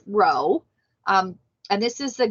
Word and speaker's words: rho: greek letter row so i know it looks kind of like a p but it's pronounced row um and this is